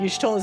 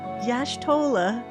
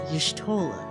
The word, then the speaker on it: Y'shtola: Like Y'shtola's in the corner going like, it's not Y'shtola, it's Y'shtola. You say it quickly with me.